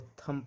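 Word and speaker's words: thumb: एम लगा हुआ इसको थंब पढ़ा जाता है। बहुत लोग थंब बोलते हैं नहीं थंब बोला जाता है।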